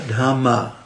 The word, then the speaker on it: dhamma: Upadaniya dhamma. Dhamma with a long A at the end.